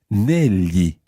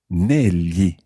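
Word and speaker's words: negli: sound in Italian but in this word is pronounced Nellie Nellie it's like writing any L Y i if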